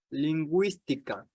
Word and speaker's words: lingüística: Sin embargo, la U sí se pronuncia si lleva diéresis. Por ejemplo, desagüe, pingüino, lingüística.